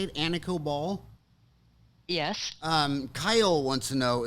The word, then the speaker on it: Anikó: Anna COBOL is that how you say it Anna COBOL yes Kyle wants to know if you're related